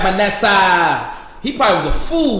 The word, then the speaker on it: Manasseh: the god of manessa you heard my name say it right my nasa he probably was a